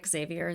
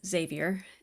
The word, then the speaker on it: Xavier: is Xavier um I I got corrected that it's not Xavier that it's Xavier even though it's spelled Xavier Xavier um that his dad